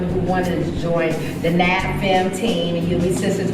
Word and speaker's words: NABFEM: So that would take you to NABFEM. That's how we pronounce our acronym for our long title.